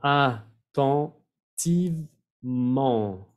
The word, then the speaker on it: attentivement: Attentivement. Attentivement. Cuatro sílabas.